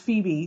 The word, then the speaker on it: Phoebe: that awful movie she was in shag with phobic Kates I know it's pronounced Phoebe don't write in um but Mrs Kevin Klein